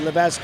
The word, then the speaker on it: Levesque: out yesterday too that I've been calling her Levesque all year, and it's incorrect. They do pronounce the S, so I apologize to Marissa for that, but we're making no mistake tonight. Levesque is having a strong